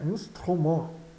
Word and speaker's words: instrument: Instrument. Outra coisa ainda, a palavrinha instrument, o T final é mudo, não soa.